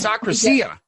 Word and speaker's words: akrasia: So the word akrasia. It's akrasia. You can say it either way. Akrasia is how you say it in Greek.